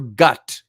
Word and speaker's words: Gath: Israel the city of gath or gut as it's called I guess it's spelled in the English Bible g- a t h of the city of gut um hey Isaac Isaac